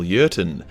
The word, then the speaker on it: Jurten: The commander of the Loyalists was a man by the name of Colonel Jurten. Starts with a J, but because he's German, the J is silent.